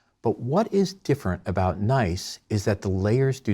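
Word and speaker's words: gneiss: we'll look at is nice spelled GN e i SS but pronounced nice setting up all geology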